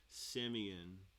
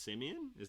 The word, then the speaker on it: Simeon: Okay, so who I thought was Simon, he says to pronounce his name says Simeon. So it's Simeon?